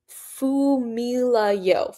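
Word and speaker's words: Funmilayo: Ooh, pronounced Fumilayo. Fumilayo. Okay, so the N is silent.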